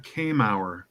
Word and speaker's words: Kamauer: Selena Kamauer. Kamauer. CAE spells K. MAWR sounds like hour, but Mauer. So yep, Selena Kamauer.